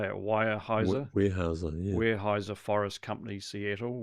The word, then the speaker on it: Weyerhaeuser: Weyerhaeuser, yeah.